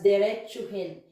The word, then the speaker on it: diretsuhin: So we change the O to U, so we pronounce it as diretsuhin.